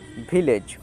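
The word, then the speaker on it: village: এর আগেই বললাম যে ইংরেজির শেষে যদি ই থাকে সেটি সাইলেন্ট থাকে এটির উচ্চারণ হয় না তাহলে জিতে বর্গীয় জ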